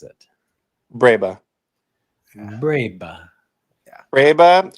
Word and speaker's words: breba: Breba. Breba. Breba, and sometimes they have Breva, like with a V.